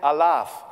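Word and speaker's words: Alaaf: It's like, I will say Kölle, which means Cologne, yeah, and you have to say I laugh. Like, it's similar to I laugh. It's spelled A-L-A-A-F, and nobody knows what it means, so don't ask me.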